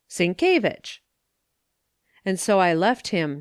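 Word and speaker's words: Sienkiewicz: with the polish language it is pronounced syncovich si en que Cinque ie a WI cz vich syncovich and so I left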